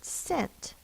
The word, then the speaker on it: scent: The C that is followed by an E, I, or Y will say the S sound, like in the word scent, which is the word that we're going to use.